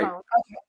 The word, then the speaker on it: Salone: Is that Oh, how you pronounce Siloam, Siloam. Salone? Right. Salone.